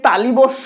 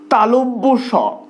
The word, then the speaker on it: তালব্য স: আঞ্চলিক প্রভাব অনুযায়ী সেটা তারা বলতে পারে, কিন্তু এটার সঠিক উচ্চারণ হলো তালব্য স। কি? তালব্য স, অর্থাৎ যে স উচ্চারণ করার সময় জিভটা তালুর কাছাকাছি যায় বা তালুকে স্পর্শ করে।